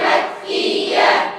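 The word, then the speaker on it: مكية: আসরি সূরাতুল আসর মাক্কিয়্যাহ শেষ মাক্কিয়া ইয়া বললে হবে না তো শেষে হা আছে না নাই উচ্চারণ করতে হবে মাক্কিয়া এই তো হয়েছে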